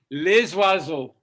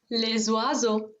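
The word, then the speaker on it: les oiseaux: german pronounces it okay french people will say so if you say plural of that you say les vaso les wazo one more time you feel how that feels les wazo good very beautiful now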